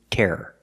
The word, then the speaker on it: terror: And the second word is terror. Terror or terror if you say it fast. But it's still two syllables.